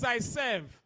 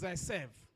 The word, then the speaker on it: Zaitsev: The pronunciation says Zaitsev. Now the pronunciation as Zaitsev. Says Zaitsev.